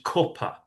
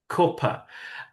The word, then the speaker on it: cuppa: further north, it becomes cuppa, cuppa. And this is a little split called the foot strut split.